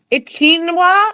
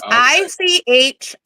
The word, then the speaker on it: Ichinawa: Ichinwa, which I just butchered. It's ICHINAWA.